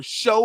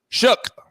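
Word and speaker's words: Shough: Tyler Show or Sha, I don't know how to say his name. Chuck. Chuck. Shook shook. Sorry, Shook. Thanks, thanks for that.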